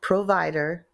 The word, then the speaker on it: PRVDR: Pro provider and uh spelled without the vowels so so it's PR rvdr but it's called provider without the vowels and you got